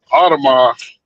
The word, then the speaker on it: Audemars: You said it right the first time, Audemars.